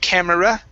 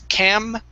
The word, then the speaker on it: camera: Instead of camera, okay, the E is not pronounced, so it's camera.